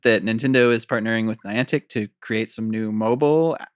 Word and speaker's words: Niantic: to pronounce this name is it niantic niantic neon tick uh the company antique niantic is how i would say it um there was just an announcement that nintendo is partnering with niantic to create some new